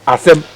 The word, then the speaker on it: Asem: So when you remove the two H, you get the correct pronunciation of the word, which is Asem.